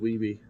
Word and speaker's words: Wiebe: yeah, it's pronounced Weeby or Weeb. Weeby.